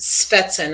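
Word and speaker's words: Schwestern: inch it was incidentally it's pronounced svetsen i'm sorry i pronounced it the wrong way swetzen and this was the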